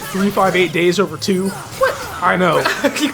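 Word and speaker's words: 358/2 Days: But 300 bas another thing I say 358 over two days because that's the way it looks on the box. But officially it's pronounced 358 days over two.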